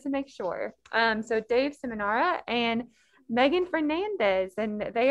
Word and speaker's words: Seminara: you this before, but can you help me out a little bit with your last name? I want to make sure I pronounce it right. Oh, I think Dave. I'm sorry. Seminara.